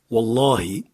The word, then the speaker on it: Wallahi: Lorsque vous dites je le jure, Wallahi, bien prononcer le ha à la fin avec la voyelle i. Wallahi.